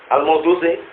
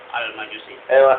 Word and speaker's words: Al-Majusi: Al-Mawdusi. Dibacanya yang benar. Kalau keliru. Oh, yang yakin dan benar itu Mas jawab. Kurang dikit lagi. Kurang lurus. Antum? Al-Majusi.